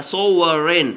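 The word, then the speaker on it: sovereign: वे का उच्चारण है सोवरेन, सोवरेन, सोवरेन। तो वे के ऊपर अपने को स्ट्रेस मारना है, वे को लंबा लेना है, तो लंबा लेना है तो यहाँ पर ये वाला चिन्ह आ जाएगा सोवरेन। और रिन, छोटी की मात्रा है रिन, तो छोटी के लिए ये वाला आ गया सोवरेन।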